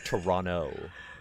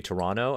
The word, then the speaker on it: Toronto: in toronto which is they say toronto and then people say toronto like i don't see that you can't pronounce yeah you can't pronounce the only distinction i've noticed okay that's how you know that you're like a sports broadcaster or something like toronto toronto there's a second t but anyways i remember